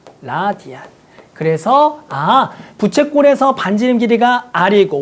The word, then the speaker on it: 라디안: 그때 우리는 이 각을 뭐라고 정의할 거냐면 1이라고 쓸 거고 단위를 여기에다가 RAD라고 알고 읽을 때는 라디안이라고 읽을 거야. 라디안.